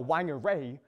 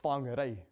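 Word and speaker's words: Whangārei: It's not Whangarei, it's Whangarei.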